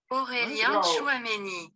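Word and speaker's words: Aurélien Tchouaméni: Aurélien Chouameni.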